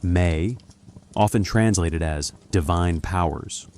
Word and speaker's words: me: It was a collection of discrete elements called the me pronounced may often translated as divine powers or divine decrees.